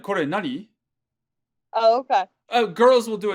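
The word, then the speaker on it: 何: So kore, nani? If there were no des here, this would be pronounced nani, but it's being pronounced nan because there's a des here.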